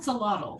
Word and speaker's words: axolotl: Someone pronounce it. Axolotl? Axolotl.